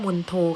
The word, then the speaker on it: มณโฑ: นา งมณโฑ นะ คะ อ่าน ออก เสียง ว่า มณโฑ ค่ะ หมาย ความ ว่า มเหสี